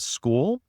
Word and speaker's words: Skool: And I can't remember if we talked about this off camera, but it's a platform called School, and it's spelled SKOOL.